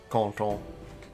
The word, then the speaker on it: Canton: Don't need to pronounce it with a French accent. Those N's get pronounced.